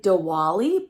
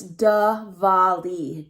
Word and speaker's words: Diwali: pronounced it right so even though it looks like diwali and i want to say the wa it's da vali da vali and this story is